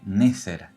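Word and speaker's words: נצר: escrituras del Antiguo Testamento la palabra vástago o retoño en el hebreo se pronuncia neser y de ahí proviene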